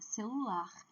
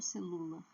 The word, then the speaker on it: celular: Celular. Eu não falo celular, é celular.